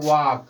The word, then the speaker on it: walk: तो एल के तुरंत बाद यहाँ पर क्या आया है, के आया है, अतः एल का उच्चारण नहीं किया जाएगा। ठीक है गाइस, ध्यान दीजिएगा। ऐसे ही कहा जाए वाक, WALK, ठीक है, इसको पढ़ा क्या जाता है, वाक पढ़ा जाता है, समझिएगा।